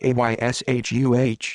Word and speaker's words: Asha: born august 5th 1990 first name pronounced ayshuh went missing at the